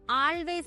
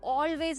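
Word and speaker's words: always: ഡബ്ലു എ വൈ എസ് അത് പലരും ആൾവേയ്സ് എന്നാണ് വായിക്കുന്നത്. പക്ഷേ അത് ഓൾവേയ്സ് എന്നാണ്. സീ സ്പെല്ലിങ് എഴുതിയിരിക്കുമ്പോൾ എ വെച്ച് തുടങ്ങുന്നുണ്ട് ആ എന്നാണ് ഉച്ചരിക്കാൻ നമുക്ക് തോന്നുക. പക്ഷേ അങ്ങനെയല്ല ഓ ഓ ആണ് ഉച്ചാരണം. സോ അങ്ങനത്തെ കാര്യങ്ങൾ നമ്മൾ പഠിക്കണമെങ്കിൽ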